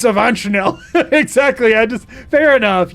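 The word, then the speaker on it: Avanchnzel: It's It's Avanchel. Exactly. I just Fair enough. You got me there. It is Avanchel.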